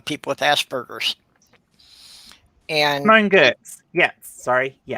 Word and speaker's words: Giertz: Yeah, it's pronounced Gertz.